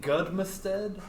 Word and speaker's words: Goodmed: last name differently I I pronounce it good m even though it's an ad at the end it is a Norwegian last name so in the